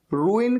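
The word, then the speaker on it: ruin: अच्छा, यहां पर जो वर्ड रूइन है ना, इसको प्रोनाउंस करने में बहुत सारे लोगों को दिक्कत होती है। रू इन ऐसे बोलना है, रूइन।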